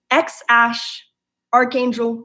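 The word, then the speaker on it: X Æ A-12: named their baby and this is exactly how it's pronounced ex Ashe Archangel musk now it doesn't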